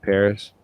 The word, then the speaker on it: Perez: guys david perez uh it's like paris david paris um but he was working